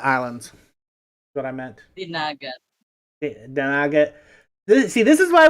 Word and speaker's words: Dinagat: say, if you're in the eastern islands like Dingaton and all that. And I probably just butchered that. There's one for the blooper reel. Yeah, Dingalan Islands. That's what I meant. Dinagat.